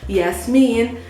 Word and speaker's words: Yasmin: I wanted the Arabic pronounced also name, Yasmin.